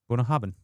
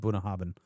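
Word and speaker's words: Bunnahabhain: Hey, how do you pronounce 115? 115. Bonah Habin. Bunah Habin. Bunah Habin. I I'm I'm probably My accent isn't great, but it's called Bunah Habin.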